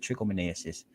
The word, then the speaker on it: trichomoniasis: trichomoniasis that is how you say that word trichomoniasis a sexually transmitted infection caused by a parasite